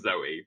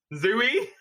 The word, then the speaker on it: Zooey: is on par with zooey i know it's pronounced zoe but zooey oh no but yeah zoe deschanel she plays